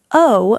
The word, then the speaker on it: owe: The word owe means to have a debt for a service. OWE. pronounced like the letter O.